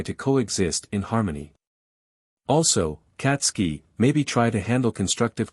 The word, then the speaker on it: Katsuki: checked her pad yeah says it right here katsuki bakugo it's pronounced katsky bakugo said ha Apple